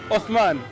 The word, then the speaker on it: Uthman: Osman. Osman. Yeah. But I like to benefit. Spell it for me.